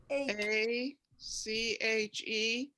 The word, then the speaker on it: ache: c h e okay the a is going to say a because of the e you don't say the e but the c-h is going to give a k sound a and see number